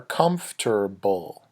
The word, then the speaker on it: comfortable: My shoes are comfortable. Comfortable. Okay, we spell it this way, but it sounds like this.